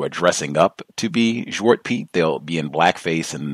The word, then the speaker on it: Zwart Piet: And then Zwart Piet, that's how they say it over there, Zwart Piet.